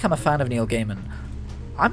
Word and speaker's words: Neil Gaiman: is it it's that neil gaiman comic or gaming i always say his name wrong it's neil gaiman isn't it um sandman he did